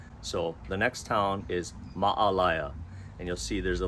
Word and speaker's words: Maalaea: the next town is ma'alaya and you'll see there's a little apostrophe in between the two A's so there's a pause ma'ala it's not Malaya it's not Malia it's ma'alaya so from there you'll